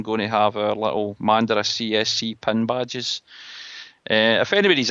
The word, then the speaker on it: Mandurah: It's at Mandara, which is spelled MANDURAH CSC.